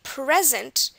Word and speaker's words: present: the pronunciation present present when I say present I'm putting stress on the pre right here pre present and that